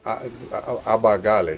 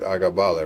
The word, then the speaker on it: Abagal: Abagali. Sorry, I said it wrong. Abagal, didn't mean to say your name wrong. I said Agabal.